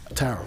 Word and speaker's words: tarot: You don't pronounce the second P. Tarot.